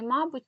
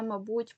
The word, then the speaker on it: мабуть: тих наголосів які потрібні є наголос які мають подвійний корисний корисний мабуть та мабуть помилка помилка байдуже байдуже і так далі їх також не